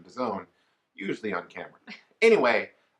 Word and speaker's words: DAZN: and it all and we use the correct pronunciation to zone use the on camera anyway when I first